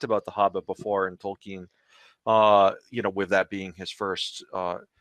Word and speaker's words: Tolkien: Tolkien. That is how it is believed that it was pronounced properly.